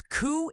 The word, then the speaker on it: coup: When I first heard the rumor, I had to look it up, which took forever because coup is pronounced coup.